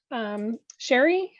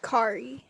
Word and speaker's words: Kari: Sherry, are you did I pronounce that correctly? It's Kari.